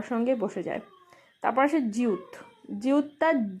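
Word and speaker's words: 지읒: তারপর আসে জিউত, জিউতটা জ বা জি এর মতো উচ্চারণ হয়, কখনো কখনো জে এর মতো উচ্চারণ হয়।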